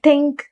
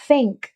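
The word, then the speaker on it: think: For example, थिंक, थिंक नहीं है वो, थिंक, थिंक, वो टंग टीथ के बीच में लाकर कहते हैं थिंक।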